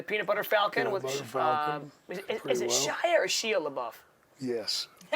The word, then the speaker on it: Shia: were in the peanut butter Falcon is it Shy or Shia LaBeouf yes the man who says he is with names exactly how you pronounce it yeah yeah yeah it's a Shia LaBeouf yeah yeah he he seems like an